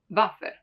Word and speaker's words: Waffe: While for Waffe, for example, since it comes from German and that's how they pronounce it, it stays as Waffe.